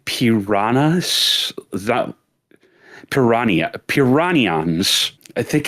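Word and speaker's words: Piranha: It's written P I R A N H A Ns, but you don't pronounce the H, which leads me to believe they're trying to go for a Portuguese thing, which if you know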